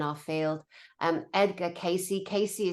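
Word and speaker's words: Cayce: field um Edgar Casey Casey is spelled with a c a y c he's dead now but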